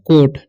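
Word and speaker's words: caught: है, इसे पढ़ते हैं कोट, ठीक है, यू का उच्चारण यहाँ पर नहीं होता है, इसे पढ़ते हैं हम लोग कोट, ठीक है, काउट नहीं पढ़ लेना है।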